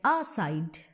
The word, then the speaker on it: aside: don't pronounce it like aside. You pronounce it as aside. Okay. So here you understand that the syllable which contains the root of that word, which is side, is more important and it is more